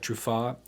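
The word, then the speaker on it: Truffaz: As we've spoken about, you're a sideman for notable artists like Tigran, also Eric Truffat.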